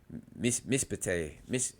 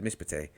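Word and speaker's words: משפט: The first of two contingent side-by-side shawahs within a word is silent. For example, the shawah under the shin of Mishafite. Mispate. That's what it is. Mispate. A mispate is silent, and the shawah up under the pay is vocal. The word is simplified mispate.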